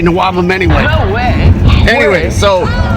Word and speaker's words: NWOBHM: what that sounds for you could pronounce it as a word it sounds like a weird word it's not really a word but we say Noam anyway no way anyway